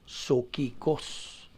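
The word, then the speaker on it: ψυχικός: Now, ang usa ka di magtotoo sa Grigong pulong gitawag ni siya og sokikos. P-S-U-C-H-I-K-O-S. Sokikos. Silent P mga na.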